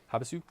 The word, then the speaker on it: Havasu: Havasu?